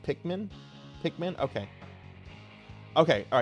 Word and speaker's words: Pikmin: Um, I have never played a Pikeman game before.